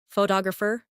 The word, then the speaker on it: photographer: For example, photograph, photographer, and photographic. The stress moves, and that changes the sound. Try saying them slowly after me. Photograph, photographer, photographic.